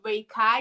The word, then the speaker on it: Reikai: you pronounce it rikki reikai so my breakfast is called ray kai it's i could play on my name and make oh so